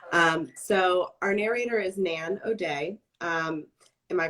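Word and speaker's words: Nan O'Dea: a little bit um so our narrator is nan o'day um am i pronouncing that correctly you are okay um so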